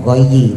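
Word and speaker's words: غيّ: Jadi tulisannya gayi tapi dibacanya gay.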